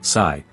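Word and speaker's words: psi: Scientists usually represent it with a Greek letter pronounced sai, which looks a bit like a tiny three-pronged fork.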